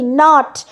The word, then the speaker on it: knot: Next হচ্ছে KNOT, নট, এখানেও একটা ভুল হয়েছে, সরি, এটা কে হবে। The word is, just a minute, please নোট it down, it ইজ নট an, that is silent, KNOT, এটা টাইপোগ্রাফিক্যাল মিস্টেক হয়েছে এখানে, কিন্তু কেটা ইজ the word which is নট pronounced, তাই না, আমরা প্রোনাউন্স করি নট, তাহলে কের কোনো প্রোনাউন্সিয়েশন হচ্ছে না, এটা নোট করুন, এটা